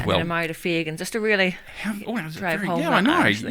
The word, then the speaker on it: Fegan: So it's either Fegan or Fegan. I'll accept both. Ooh, but what's the correct pronunciation? I would say Fegan.